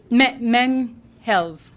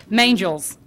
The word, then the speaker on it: Mangels: Jennifer Menhels, right, Menhels? Rhymes with angels. Mangels.